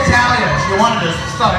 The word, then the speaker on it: Talia: I said Talia if you wanted to sh on my own pretending he is beside me.